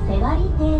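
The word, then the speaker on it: 背割堤: どピンク色理沙は横だっん背割堤と読みますアグラの命沿っ政治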